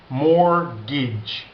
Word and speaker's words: mortgage: its mortgage okay but we don't pronounce that T mortgage that's how you pronounce